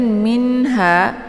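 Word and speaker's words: منها: Kemudian minha di sini ada nun sukun bertemu dengan huruf ha. Ini dinamakan dengan idhar hakiki. Maka cara bacanya nunnya dibaca jelas, cukup ditekan minnya saja ya.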